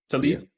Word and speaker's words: Tlaib: I think they pronounce it Tlaib.